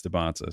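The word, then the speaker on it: Dybantsa: They pronounce their names, and he says Dybansta.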